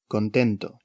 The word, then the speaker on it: content: content, The final T is silent, like most final consonants in French, the exceptions being the consonants in the word careful, C, R, F, and L.